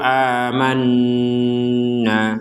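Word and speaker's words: آمَنَّا: Nah, kalau disambungkan amanu qolu amanna. Di sini ada tasydid aman. amna. Jadi di rongga hidung kita itu ada dengungan.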